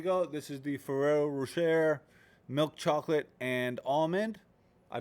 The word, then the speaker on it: Rocher: This is the Ferrero Rocher milk chocolate and almond. I don't know where you can find it. Wherever they sell Mr. Ferrero and Miss Rocher. Rocher, pardon me, Rocher.